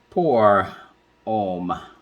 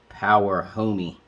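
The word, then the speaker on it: Pour Homme: told me it's called poor om don't pronounce the h good thing i talked to her i would have called it power homie or something but um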